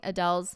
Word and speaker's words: Adele: In shorter news, apparently we've all been We've all been pronouncing Adele's name wrong. It's Adele.